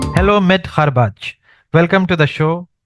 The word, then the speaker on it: Kharbech: Hello Mid Kharbaj, welcome to the show.